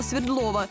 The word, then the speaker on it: Свердлова: светлого так нам сюда местные жители в названии делают ударение на букву е хотя свое имя улица получила в честь революционера якова свердлова идем по прямой к